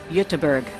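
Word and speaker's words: Göteborg: just found out that gber is actually pronounced utterberg so from now on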